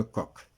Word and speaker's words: Koch: bacille de Koch, de Koch plutôt, de Koch, on le Koch mais on le prononce Koch.